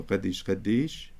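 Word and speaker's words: qaddish: So that's qoptaka dalet. And that dalet is doubled because there are two syllables here. Qad and dish. It isn't a standalone qop tacha. It's a short A, so it's doubles that dalet.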